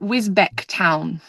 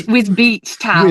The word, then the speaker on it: Wisbech: So we're going to be at, well, I thought I pronounced it Wisbech Town, but I think it's Wisbeach Town. Wisbeach. Even though there's no EEC.